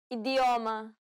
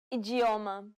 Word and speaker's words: idioma: in the next lesson the letters d and T can sometimes be pronounced differently from what you would expect first let's see the two ways you can pronounce the d Ade idioma ijioma now pay attention to the